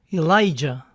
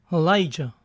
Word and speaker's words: Elijah: Elías es Elijah, pero también es popularmente pronunciado con una A inicial débil. Elijah.